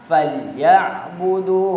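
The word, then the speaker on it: فليعبدوا: Terkadang orang membacanya itu ainnya diganti menjadi alif. Jadi kedengaran falya padahal di situ ditekan. Maka cara membacanya falyabudu rabb hadzal bait alladzi at'amahum min ju'in wa amanahum min khauf.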